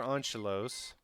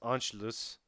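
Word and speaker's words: Anschluss: my time so after Angelo's I think I've gotten the most comments about the way I pronounce Angelo's it's on Sheila's I think is the correct way and I always say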